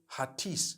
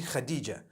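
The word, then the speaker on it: Hatice: I would say Hatis for that. No, it's actually Khadija.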